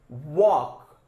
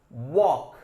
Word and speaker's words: walk: Walk. What's this? Walk. Walk. What is silent? L. What is silent? L. So let us underline L.